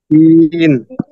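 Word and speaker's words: شين: শিন শিন না সিন শিন তারপরের আলাফটা হচ্ছে শিন শিন এটা একটু মোটা হবে শিন শিন শিন শিন মাশাল্লাহ হ্যাঁ তারপর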